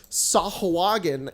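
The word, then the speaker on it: sahuagin: dnd monster it's called they're called sahoo again and some people say sahawagan and that's ridiculous it's ace s-a-h-u-g-i-a-n very clearly sahoo again i was going to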